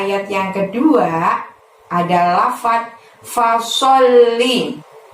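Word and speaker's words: فصل: Pada ayat yang kedua ada lafaz fasolli. Sok di sana menghadap lam tasydid, maka pada saat mengucapkan sol ditahan, ditekan, baru bunyi li. Li-nya pendek ya.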